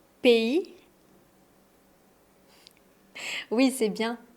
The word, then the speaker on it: pays: P I le S est mué et le A plus le Y forme le son E P.